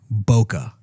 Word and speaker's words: Boca: Mine's with a C. And an A. Pronounced like a UH. Boca.